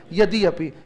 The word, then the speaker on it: यद्यपि: हम भी school time से इस यद्यपि पर खूब जोर देके बोलते थे, जबकि बहुत स्मूथ उच्चारण है इसका। यद्यपि क्या उच्चारण होता है? यद्यपि।